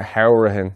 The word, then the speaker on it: Hourihan: Then you have Conor Hourihan, which he likes to pronounce it that way. So it's not Hourihan, it's actually Hourihan, he said in a recent interview.